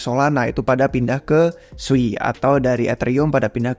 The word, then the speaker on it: Sui: kalian belum tahu sebenarnya namanya itu memang dibacanya Sui bukan Sui nah ini informasinya minor sih